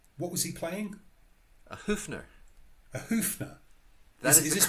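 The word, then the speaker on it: Höfner: A Hoofner.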